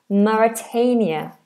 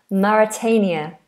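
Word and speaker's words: Mauritania: So here we have So we have Maitius and then we have Maritania. It looks very similar to Maitius but has a completely different pronunciation. Maritania. Maritania. Maritania.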